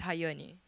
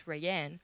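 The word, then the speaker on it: Rayane: My name's Hayani, because that's how you say it in Portuguese. But everybody would think it's Rayanne, because that's how it hit in English, where you're not aware how to pronounce it.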